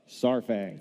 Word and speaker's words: Saurfang: And the funny one about that one is the pronunciation of Saurfang. Saurfang. No? Sour? Saurfang. Saurfang. Sour. Say it with me. Saurfang.